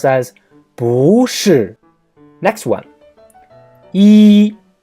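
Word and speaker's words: 一: as russia next one e means one number one it is the first tone when it is used as a number like II our son is one two three but when e is proceeding words with the first on second tone or 3rd tone it becomes a false tone for example e TN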